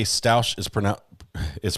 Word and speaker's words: Stauch: just want to say stouch is pronoun is pronounced like stoke Stoke so uh that's